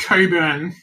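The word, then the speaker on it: Cockburn: We call it Coburn, but it's actually spelled like COCK, burn.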